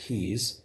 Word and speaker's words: quays: musical notes oh because quays is pronounced keys of course uh and